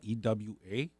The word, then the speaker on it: Ewa: My parents immigrated from Japan, and we grew up in this sugarcane town called Ewa, E-W-A. It's pronounced Ewa.